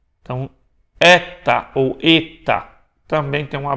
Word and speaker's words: eta: Estamos transliterando como um E com um chapéuzinho ali, com um acento circunflexo, mas com o som de E, fechado.